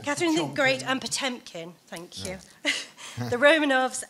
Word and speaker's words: Potemkin: Doesn't matter how you pronounce it. Potemkin. Yeah, Catherine Chomkin. The Great and Potemkin, thank you.